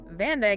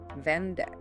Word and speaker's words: vandag: How many syllables do you hear in the word vandag, meaning today? Vandag has 2 syllables. Vandag.